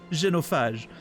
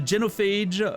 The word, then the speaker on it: genophage: I I for some reason I wanted to pronounce it in the French way. Genofage. the genophage bioweapon to end the war.